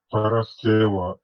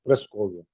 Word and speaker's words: Параскева: Параскева и Иконийская из пятницы, 3 век. Причем ногчи, не будучи православными, правильно, это почти по-гречески произносит этот день, а гаски говорят Прасковья.